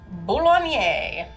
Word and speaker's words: Boulogne: Henry VIII's siege of Boulogne. That's exactly what I thought. I had to put a little pronunciation bubble next to it so I didn't just say baloney.